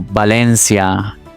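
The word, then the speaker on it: Valencia: Guys, in English you have v as in victor and b as in boy. But in Spanish both sound as b as in boy. For example, bino or balencia.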